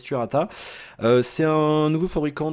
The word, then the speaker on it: Turata: Alors, on va le prononcer à on va le prononcer à la française Turata.